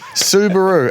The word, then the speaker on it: Subaru: Not Subaru. So, am I still saying it wrong? It's not Subaru. What, Subaru. Subaru. It's written Subaru. That's as good as it's going to get.